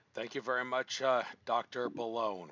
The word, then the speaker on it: Boulogne: Boulogne. Rhymes with Cologne. Not going to pronounce it the wrong way.